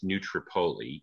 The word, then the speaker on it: New Tripoli: philadelphia and in a small town that we pronounce as new tripoli even though it's tripoli um but this is